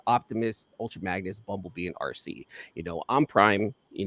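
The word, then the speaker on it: Arcee: And then my daughter's name is RC. I named her RC. It's spelled A RC E.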